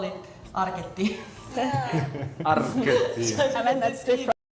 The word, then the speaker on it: Arket: But as a brand, the pronunciation would be Arket.